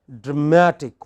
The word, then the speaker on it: dramatic: Say for example, all words ending in IC, ick, have this kind of stress on the pre-final. So, you have dramatic.